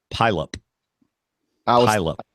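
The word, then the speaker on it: Puyallup: l u p okay based on the fact that they don't pronounce all their vowels I'm gonna say pyop pup I was thinking pup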